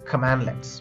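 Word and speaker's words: cmdlet: In PowerShell, commands are called as commandlets, pronounced as command-let.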